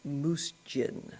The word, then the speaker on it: MUUSJN: She joined the board of the Michigan UYU social justice network which that acronym is pronounced Moose Jin. Think of a moose drinking gin.